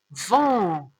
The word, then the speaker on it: vent: V avec en, vent. Et T, ça se prononce pas.